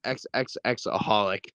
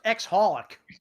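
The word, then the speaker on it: xxxHOLiC: cole black ninja that there's a show called XXX aholic why does that exist it's actually it's actually it's actually pronounced ex holic why does that exist it's actually despite the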